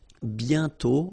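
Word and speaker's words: bientôt: mhm and then okay remember you put this aent circlex but you don't write it oh you sorry you write it but you don't pronounce it and then the final day is not pronounced bio okay and then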